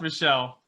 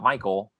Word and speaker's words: Michel: not michelle that is not michelle it is pronounced michelle it's definitely not michael in what world i have a brother whose